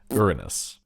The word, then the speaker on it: Uranus: But from now on I'm going to be saying the proper pronunciation. Uranus.